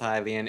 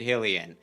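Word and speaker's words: Hylian: Game Grumps, even though he knows that it's pronounced Hilian, insist on calling it Helian.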